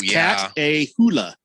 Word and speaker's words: Catahoula: Catahoula? It's Cat-a-hula. Spelled that way, but that's, yeah, I think my son has a dog like that, actually.